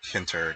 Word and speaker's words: tkinter: for here on out I'll just call it kinter because the T is sort of a clumsy way of pronouncing it.